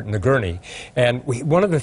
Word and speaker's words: Nagourney: want to correct myself i mispronounced the doctors name is dr. nagurney and we one of